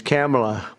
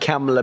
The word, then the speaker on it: Kamala: It's Cam, right? Cam as opposed to Com.